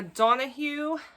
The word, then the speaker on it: Donoghue: Okay, then we have The Pull of the Stars by Emma Donoghue. I think you pronounce it Donoghue.